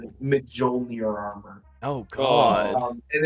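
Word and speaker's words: Mjölnir: it's pronounced Mjolnir.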